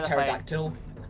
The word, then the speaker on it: pterodactyl: We need a phonetic alphabet that uses only silent letters. So X is xylophone. P is pterodactyl.